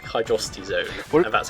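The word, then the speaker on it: Hydrocity: worst actually it is actually oh I like hydrosity Zone and that's how it's pronounced yeah no talking about not Sonic 3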